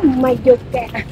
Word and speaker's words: Mallorca: Đáng lẽ là phải mua cái áo Mayoka. Ở đây Maloka nhưng mà ta đọc là Mayoka.